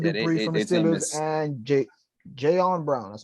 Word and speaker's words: Jayon Brown: Bud Dupree from the Steelers and Jayon Brown.